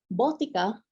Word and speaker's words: botica: it is the uh the right pronunciation is botica boy is it familiar